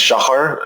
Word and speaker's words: Shachar: for us okay so my first thing is shot it's pretty hard to pronounce for English speakers it's Hebrew and it means dawn